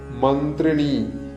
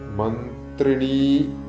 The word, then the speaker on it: മന്ത്രിണീ: പിന്നെ മന്ത്രിണി, ഇവിടെ ന പ്ലസ് തായാണ്. മന്ത്രിണി അല്ല, മന്ത്രിണി എന്ന് നീട്ടേണ്ടതാണ്. കാരണം സ്ത്രീ ദേവതാ ചൈതന്യങ്ങളുടെ നാമങ്ങളെല്ലാം മന്ത്രങ്ങളെല്ലാം നീട്ടിയിട്ടാണ് ഉച്ചരിക്കേണ്ടത്. മന്ത്രിണി പരിസേവിത, പരിസേവിത എന്ന് നീട്ടേണ്ടതാണ്.